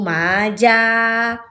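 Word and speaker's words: 맞아: Karena ji pindah ke atas alias posisinya berubah jadi di tengah, maka pelafalannya kembali ke bunyi semula, yaitu kembali menjadi vokal eh menjadi bunyi J. Maka pelafalan ini yang benar adalah nomor satu. Maja.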